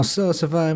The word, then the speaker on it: salsify: Now, salsify might sound like something you do to your Mexican food, but it's actually pronounced salsify and is a root vegetable that's native to the Mediterranean.